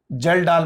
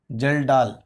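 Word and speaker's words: Kjeldahl: एक है बच्चों ड्यूमास मेथड, ड्यूमास मेथड, और दूसरा है जेल्डाल मेथड, जेल्डाल, DAHLS, थोड़ा सा स्पेलिंग आ जाता है, जेल्डाल मेथड।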